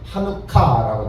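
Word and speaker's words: חנוכה: 그 봉헌이라는 단어가 뭐냐면은 그 데디케이션 나오는데 이것을 찾아보면은 어떤 단어가 나오냐면 그 히브리어로 카가 좀 강하게 발음되는데 하누카라고 되어 있습니다. 즉 봉헌, 헌납 이런 뜻입니다.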